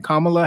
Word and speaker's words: Kamala: thank you Tanya always keeping me honest on pronunciations you know what I'm saying kamla Harris and Donald Trump were going back and